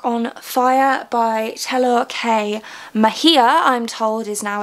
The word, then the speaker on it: Mejia: set the dark on fire by hello hey Mejia I'm told is now it's how it's actually pronounced so I apologize for having pronounced this